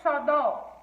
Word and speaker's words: xodó: Por exemplo, na palavra xodó. Xodó, além de ter o acento para facilitar, né? Ele também tem a sua última sílaba mais forte, tá bom?